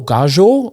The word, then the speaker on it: Gallo: sails like H was I think it's Gallo gajo is how you say it the prop when he